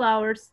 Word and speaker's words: hour: Depende del sonido porque a veces la H es silent. Y a veces la H tiene sonido de J. Entonces, si tiene sonido de J, lleva a house, for example. A house. Pero si no tiene sonido la H, entonces lleva an.